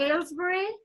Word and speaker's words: Ailesbury: Lyndon so you are the owner am i pronouncing the name of your clinics correctly Aylesbury yes and how many clinics do you have